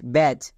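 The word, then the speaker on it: batch: আছে যেমন দেখো বি এ টি সি এইচ ব্যাচ কেন কারণ এখানে দেখো শব্দের শেষে চো আছে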